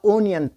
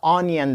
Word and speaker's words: onion: دوستانو اکثره خلک دا اونین تلفظ کوي. اونین نه ده، آنین ده. الف زر آ باندې ویل کیږي.